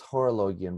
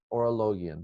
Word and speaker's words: Orologion: He says Horologion, but he's the first person I've ever heard pronounce it that way. I was taught Orologion, the Book of the